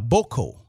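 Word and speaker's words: beaucoup: But the real pronunciation of it is boko, bio.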